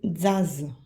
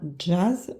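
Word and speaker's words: τζαζ: Le son J n'existe pas en grec. C'est pour ça ici, on prononce tsaï. Tsaï, c'est le T. Et dzaz. Dzaz. On ne prononce pas jazz, on prononce dzaz.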